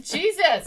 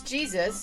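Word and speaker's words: Jesús: It says Jesus. Well, that's pronounced Jesus in his country.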